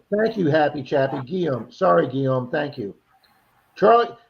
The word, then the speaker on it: Guillaume: Okay, Happy Chappy says it's pronounced as Guillaume. Thank you, Happy Chappy. Guillaume.